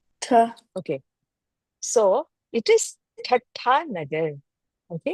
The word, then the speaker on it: Thatta Nagar: So, it is Thatta Nagar. Okay? Thatta Nagar. Yeah. Can you all unmute yourself and try to pronounce that?